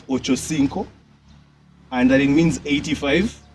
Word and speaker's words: Ochocinco: I hear people saying Ochochincho. Like, what the fuck? Like, do people, I'm sorry for even cursing, but do people actually know that is Ochocinco and that it means 85?